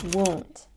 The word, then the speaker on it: wound: or punctured and bleeding the pronunciation won't we have the W sound and the long mu sound here so for the both of these sounds we have to push our lips forward and here we're